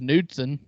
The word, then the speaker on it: Knudsen: Julian's unfortunate last name is Knudsen. Got the silent K in front, so it doesn't look terrible.